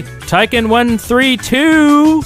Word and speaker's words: Tyken132: guess be mr it would be tycon132 finally you pronounced it right yay not 132.